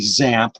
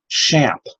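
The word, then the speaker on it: XAMPP: out how to pronounce I thought it would be zapped but they pronounced it champ and I've got links here for tutorials on how to install this and champ is very easy to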